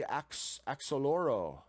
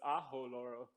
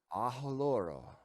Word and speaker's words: Axoloro: It's like you would say Mexico. The X is like, they say Mexico. The X is like H, so it's Ajoloro. Ajoloro.